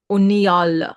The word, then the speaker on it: Uniyal: link is below um unal I've been told is how his name is pronounced so uh I think